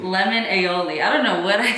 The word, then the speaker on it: aioli: was making fun of me earlier because i pronounced this wrong how do you say it aioli lemon aioli i don't know what i said earlier ally